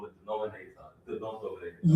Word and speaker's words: denominator: But it is denominator. D E N O Min I N A T O R. Denominator. Okay. So, syllables denominator. Five syllables.